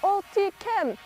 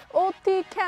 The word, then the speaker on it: Otyken: and like a lot of the shouts like, OTYKEN, OTYKEN, and I was like, oh, that's how you pronounce the band's name.